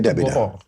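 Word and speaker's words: غرر: Oh, garor itu gahar itu ya orang bacanya garor bukan enggak lain.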